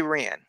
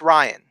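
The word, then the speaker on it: Rian: that why do you why do you say ran I don't know it's Ryan Ryan whatever Riaan Ryan I know it's spelled ran but it's it's right okay anyways but maybe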